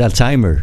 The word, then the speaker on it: Alzheimer: le font les québécois ils lisent pas alzheimer comme nous ils disent alzheimer à l'américaine simplement et là on veut les